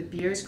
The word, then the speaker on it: Beers: been approved through the BIRS criteria. BIRS sounds like it's a good time.